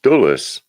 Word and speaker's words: Dulles: traced back to Scotland, where the original name was actually Douglas, and it became pronounced Dulles, and then the spelling changed.